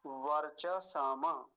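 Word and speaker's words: वर्चस्: होता तो कैसे बोलते वर्च समम ऐसे बोलते लेकिन हलंत है तो क्या बोलेंगे वर्चस ठीक है तो ये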